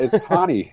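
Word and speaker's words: Raoni: He wants to be known as Ronnie, even though it's pronounced I Hani. noticed that. It's Hani.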